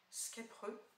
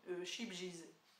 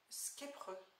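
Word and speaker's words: Scheepjes: Alors je crois qu'on le prononce Skepreux. Alors moi je l'ai très longtemps prononcé comme ceci, Chibjiz. En fait c'est pas du tout comme ça, hein, je sais, mais voilà.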